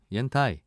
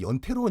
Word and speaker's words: 옌타이: 옌타이. 예, 발음 좋으시네요. 약간 감사합니다. 이게 예. 이제 이 옌타이가 이제 중국 발음이지 않습니까?